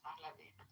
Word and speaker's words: Pahlavi: It's Pahlavi.